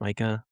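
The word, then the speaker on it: Maika: No, Micah, I think it's pronounced Micah, Micah Micah Monroe.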